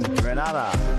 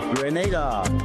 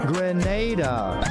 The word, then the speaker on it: Grenada: So today, like we Germans say, we are in Granada. But I heard in English it's called Grenada. Say it right. Grenada.